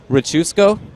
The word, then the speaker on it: Richusko: Richusko? How to spell it? I don't know. But that is how it's pronounced.